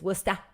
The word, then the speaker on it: Worcester: It's Worcester with an AH at the end.